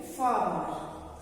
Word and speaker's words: farmers: जब भी किसी भी स्पेलिंग के बीच में आर आता है तो उसको बहुत प्रोमिनेंटली प्रोनाउंस नहीं करना. फार्मर नहीं बोलना, फार्मर.